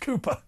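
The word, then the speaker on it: Kapoor: It's pronounced Cooper. Yes, Mr. Cooper. It's pronounced Cooper.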